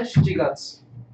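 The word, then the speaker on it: 七月: Shichigatsu. Hachigatsu. No. You don't say, you say Shichigatsu.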